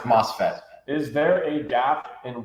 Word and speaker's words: MOSFET: Pronounced MOSFET.